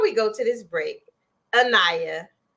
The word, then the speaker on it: Anayah: go to this break annaya I said it right yes before we go to